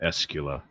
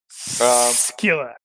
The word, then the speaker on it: Skila: I was mentally pronouncing that Escula. Escula. Succula. He sucks. That kind of works too. Skila.